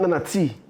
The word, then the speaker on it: Nana Tea: Meaning Nana T. I feel like spelling it T-E-E will be easier for people to pronounce it.